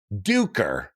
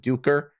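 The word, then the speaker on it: Duiker: got duker which is how I've been told is exactly how you pronounce it duker not not G liquor not juicer evidently uh Erickson was on a podcast and pronounced it duker yeah that's what I'm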